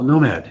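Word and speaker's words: gnomAD: Oh, Nomad. Yes, I'm sorry. Nomad, okay. Sorry. Pronunciation. Yeah, we like to pronounce it that way because that's actually a word, right? A nomad. It's not spelled that way.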